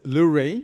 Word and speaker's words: Lewré: Yeah, you pronounce as lur.